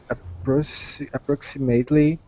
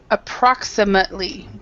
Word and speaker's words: approximately: Okay, so remember this word approximately. So this A is not an A. This ATE, we actually pronounce it, we say an ut. So approximately.